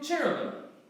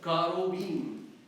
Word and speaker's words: cherubim: In English, it's pronounced from the original Hebrew, cherubim. Okay? In Arabic, coming probably through the Syriac, karobim. Okay? Or cherubim.